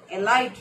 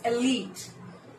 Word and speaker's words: elite: A light, right? That is incorrect. There is no light at the end of this word. It's elite.